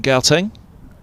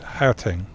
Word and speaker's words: Gauteng: Born in Gauteng. Although I'm not supposed to pronounce that first G like that, but I'm still not doing it. Gauteng.